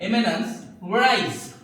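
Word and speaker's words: éminence grise: है, और इसका मतलब, इसका प्रोनाउंसिएशन होता है एमिनेंस ग्राइज।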